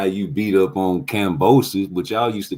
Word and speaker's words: Kambosos: Talking about he had a great performance against Kambosos, the guy y'all mispronounced his name on purpose, Cambozo.